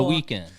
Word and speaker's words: Weeknd: The Weeknd. Ladies and gentlemen, Wow. The Weeknd.